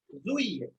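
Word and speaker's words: juillet: Then this is spoken as Zui. Okay. It's our July. It's spoken as Zui. Okay. A is not pronounced here.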